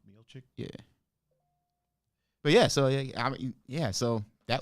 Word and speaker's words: Miocic: Miocic. Miocic?